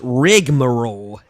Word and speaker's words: rigmarole: did as well it's there's not an extra syllable it's rigmarole whoever they is is